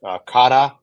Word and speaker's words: kara: It's actually pronounced kada, but you know, here we knew everybody's going to call it cara, which is totally fine.